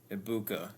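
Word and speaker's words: Egbuka: Ibuka.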